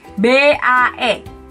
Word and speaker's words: Bae: Jadi BAE. Banyak yang bilangnya bye, bye, bye. Bukan, di Korea juga nggak ada yang namanya bye. Bacanya B.